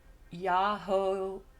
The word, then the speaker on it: Yahweh: When Y, three syllables pronounced Yahweh, our Lord, as done here.